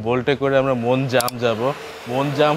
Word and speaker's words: Mon Jam: মনজাম হলো English spelling. কিন্তু উচ্চারণ থাই উচ্চারণ হচ্ছে মনশাম।